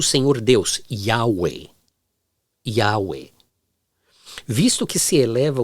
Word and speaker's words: Yahweh: É interessante que Deus, Yahweh, ou como diria no Brasil, Yahvé ou Javé, eu vou pronunciar Yahweh.